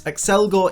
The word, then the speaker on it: Accelgor: known as accelgor and yes accelgor is the correct pronunciation since it comes from the word accelerate which means to increase in speed accelgor after kindly handing over